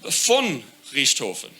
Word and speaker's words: Richthofen: And the importance of this sentence is that all the V's are pronounced F. So it's verdammt, it's von Richthofen.